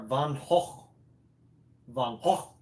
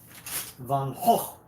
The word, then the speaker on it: Van Gogh: Van Gogh is the correct way, or the Dutch way, which Van Gogh, Van Gogh is Dutch. Therefore, his name should be pronounced Van Gogh.